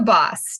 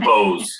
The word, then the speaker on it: Bohs: name being boss oh almost everyone pronounces it wrong people I've known for 20 years have pronounced it wrong and I've stopped correcting them like I get bows a lot you get both a